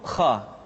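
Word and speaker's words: خ: hanha selanjutnya adalah huruf Kha Kha dikeluarkan dari pangkal tenggorokan Kha pangkal tenggorokan diucapkan dengan mengalir nafas atau lebih praktisnya pengucapan huruf k persis terdengar seperti orang yang tidur dalam keadaan mengorok Kha khi khu bakh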